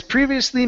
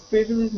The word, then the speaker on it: previously: But you're missing the end part of the word.